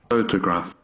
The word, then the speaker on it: photograph: Photograph. Photograph. Did you hear it? Photograph. Again. Photograph. Photograph. Photograph. Here we have the first syllable strong, loudly, and big. So it's the stressed syllable.